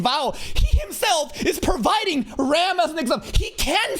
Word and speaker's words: Ram: Rom, guys. That's how they pronounce it in the dub.